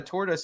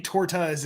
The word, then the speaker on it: tortas: say tortoise I don't how do you say it torta torta but there's an S at the end as a silence well he was taking he was saying Tortas oh okay okay you